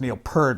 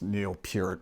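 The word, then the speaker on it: Neil Peart: And my apologies in terms of the whole pronunciation and that some I think growing up I always uh w heard it was Neil Per but then now knowing it's Neil Pur a little bit more that my apologies if I've mispronounced his name.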